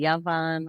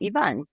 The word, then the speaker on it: Yvonne: is spelled phonetically because a lot of people call me yavan or aan and my name is actually Ivan so it's 5es v